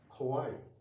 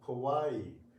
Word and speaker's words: kawaii: But in Japanese we do not have shwa sound or stressed sound. Every syo should be pronounced every ma should be pronounced in the same uh same way.